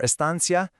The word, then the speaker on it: estancia: And for estancia, you'll hear the C pronounced like a th in Spain, or just a soft S pretty much everywhere else.